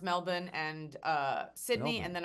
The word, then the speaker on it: Melbourne: it is pronounced Melbourne and uh Sydney and then I'm going to pop over to New Zealand where I did live for a month.